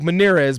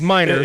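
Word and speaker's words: Meinerz: It's spelled like Manz, but it's Miners.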